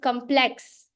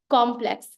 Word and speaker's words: complex: For example, the word that was said was complex, whereas when you speak it with proper pronunciation or proper accenting, it would be complex. So the force of that word actually comes in the first syllable rather than the last syllable, which is typical of our Indian languages.